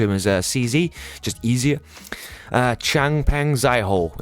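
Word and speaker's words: Changpeng Zhao: Changpeng Zaiho, if you want to pronounce it properly.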